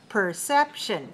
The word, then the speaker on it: perception: you know this word perception p-e-r c-e-p t-i-o-n perception 3-2 perception so can you please